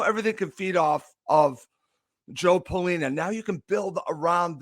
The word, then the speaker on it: João Palhinha: Do you think the signing of João Palhinha, and I think I'm saying it right because this is how he said it, is a sign of